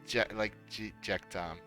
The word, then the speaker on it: Jechta: But you pronounce it as Jekta. But it's I know I can understand that for people it's really hard to pronounce because like it's with the C and the H in it, and it's not really a comfortable word, I guess, to pronounce.